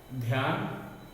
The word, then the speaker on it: ध्यान: तो आपने देखा यहाँ ध का उच्चारण अल्प है, कम देर के लिए ध का उच्चारण किया जा रहा है तीनों में। अगर हम इसे पूरा ध पढ़ेंगे तो गलत हो जाएगा। अगर हम ध्यान बोलेंगे तो ये गलत है, ध्यान नहीं है, ध्यान, ध्यान, ध का उच्चारण गलत।